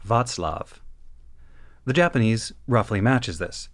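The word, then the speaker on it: Václav: course of this research ought to be pronounced more like Vatlav.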